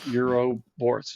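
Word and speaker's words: ouroboros: which I'm I just learned today how to pronounce it eurobus EUR Euro Boris Euro Boris that's it Euro Boris the Euro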